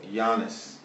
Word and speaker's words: Giannis: guy I let me see if I can pronounce his name correctly Giannis at a combo Yannis is it jannis jannis is jannis g is